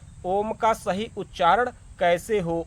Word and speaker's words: ॐ: चलिए पहले जानते हैं ओम का सही उच्चारण कैसे हो ओम के सही उच्चारण के लिए आपको आकार से आरंभ करते हुए उकार के दीर्घ संबोधन के साथ मकार पर समाप्त करना होता है इस ओमकार नाद